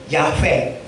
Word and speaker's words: 야훼: 여호와는 시브리로 번역하면 야훼. 시브리어, 고대 시브리어는 모음이 없어서 시브리어 자음에 22자가 형성이 되는데요. YHWH를 발음을 내기 위해서 Y에 모음 A가 들어가고 W 모음에 E가 들어가서 야훼가 아니고 야훼.